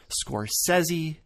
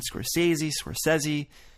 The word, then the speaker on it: Scorsese: This man's often regarded as Martin Scorsese. Martin Scorsese. People often try to drag the Z in there. Martin Scorsese, when it's actually Scorsese. Scorsese. Martin Scorsese. There's no Z in sight.